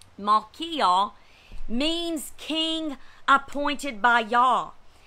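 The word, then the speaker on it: Malchijah: that that repairer's name melhaha let me just make sure i pronounce this right his name correctly malkia means king appointed by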